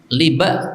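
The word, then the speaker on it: لبأ: Nah, di sini saya bacakan di dalam syarahnya, liba ka'inab. Cara membacanya seperti inab. Nah, jadi bukan laba, saya salah ya.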